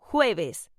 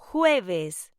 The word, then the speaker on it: jueves: Thursday is pronounced jueves. Say it with me. Jueves.